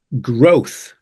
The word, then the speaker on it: growth: sound start then growth specifically for the th I mean growth yeah growth o it's like a such a big change in your mouth position between o and that's really something if you struggle with this word it's just practice you just need to get that movement happening that's all yeah because